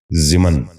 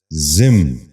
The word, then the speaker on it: ضمن: ضرورت۔ چھٹا لفظ ہے ضمن۔ یہ غلط تلفظ ہے، درست تلفظ ہے ضمن۔ دوبارہ سنیے، ضمن۔ بچوں